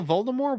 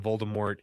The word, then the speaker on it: Voldemort: They don't put the T at the end.